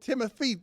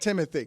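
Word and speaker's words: Timothée: fame and demanding that Timothy shalam whatever his name is I can't pronounce his first name it's the first name I have trouble with because it's not Timothy Timothy it's not it's timot get over yourself well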